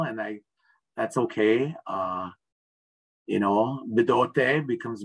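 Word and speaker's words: Bdote: You know, Bidote becomes Mendota, and, you know, so I tend to avoid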